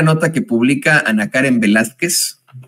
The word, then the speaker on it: Velázquez: Porque no le pusieron acento a Velázquez, es palabra grave, que termina en consonante, pues tendría que ser, si es Velázquez, pues tendría que llevar acento en Velázquez, ¿no?